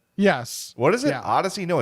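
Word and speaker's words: Audacy: shot at Odyssey, and that's bonus points.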